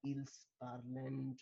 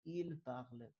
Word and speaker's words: parlent: Don't pronounce it as ils parlent or something. It's il parle, il parle, il parle. So the same pronunciation.